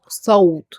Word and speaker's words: صوت: For example, صوت, not sound. If I said sound, I pronounce it with the sin, which is a light. But here it's صاد, صوت.